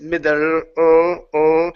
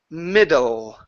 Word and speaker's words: middle: You don't want to say it like this, middle, and pulling it back here. Your tongue doesn't need to be here. Push it forward towards the teeth. Okay, so it's middle.